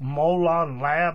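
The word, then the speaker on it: molon labe: while back and it's just like a quote-unquote molon lab like this is how you pronounce it m-o-l-o-n-l-a-b-e molon lab basically I I put the link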